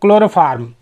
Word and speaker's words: chloroform: इसी तरह CHLOROFORM, क्लोरोफार्म।